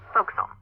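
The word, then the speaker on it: forecastle: ship but it's pronounced focusum why is that try pronouncing it like an English sailor with no formal education faux Castle overtime at whittled down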